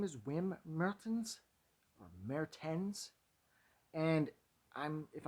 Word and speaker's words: Mertens: to get any real clarification on how to pronounce his name and so his last name is mayor tens that's for sure his first name is wim